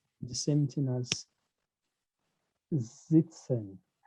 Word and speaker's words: sitzen: The same thing as sitzen, sitzen. I pronounce it as a Z because whenever S precedes a vowel, it is pronounced as a Z in German.